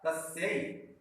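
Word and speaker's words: कस्यै: यहाँ पर या है, तो इसका प्रोनाउंसिएशन, उच्चारण क्या होगा? कस्यई। यहाँ पर अभी हम क्या उच्चारण कर रहे थे? कस्मई। यहाँ पर क्या उच्चारण करेंगे? कस्यई, ठीक है।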